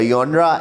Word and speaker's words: genre: Genre, pronounced genre, is derived from the French phrase genre meaning kind or type।